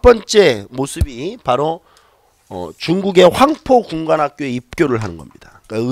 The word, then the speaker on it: 황포: 우리 중국 사료 같은 데서 보면 황푸 이렇게도 나옵니다. 황푸. 푸. 이건 상관없어요. 우리 이제 한자 우리 음으로 발음하면 황포 이렇게 되는 거고, 중국 발음으로 하면 황푸 이렇게 됩니다.